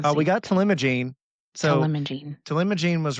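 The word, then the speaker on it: talimogene: Telimagene was right, and then Laherparepvec is the second one.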